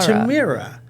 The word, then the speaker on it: Tamara: It's Tamara, Tamara, Tamara. Tamara. Tamira. So I've heard it all of those ways. Okay. And most often, people will either say Tamara or Tamara.